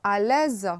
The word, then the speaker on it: à l'aise: À l'aise, quand on a un seul S entre deux voyelles, c'est un Z, à l'aise.